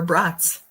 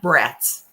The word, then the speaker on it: brats: Pre-cooked brats on the bottom, because Wisconsin, we like our brats, not brats. People pronounce it brats.